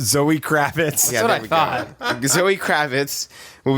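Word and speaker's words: Zoë Kravitz: cvitas kit can you do you not even know how to pronounce her name Kravitz there we go it's Zoe Kravitz I thought Zoe Kravitz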